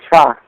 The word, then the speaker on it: Cha: And As a matter of fact, his name is Cha. Chalk? Yeah. How do you spell that?